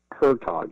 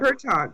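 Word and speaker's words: Hertoghe: and forwards it was written by Dr Terry hertog is that did I pronounce his name Pro properly yeah hertog yes correct hertog right a famous uh hormone expert and you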